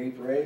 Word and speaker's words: Ypres: Canadians, you may recall, experienced chlorine gas at the Second Battle of Ypres, or Ypres, as some like to pronounce it, in April of 1915.